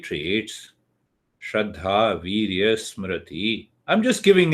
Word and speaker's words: Shraddha: Shraddha. 2 syllables. Shraddha. Shra means the truth. Dha means it comes from the intellect.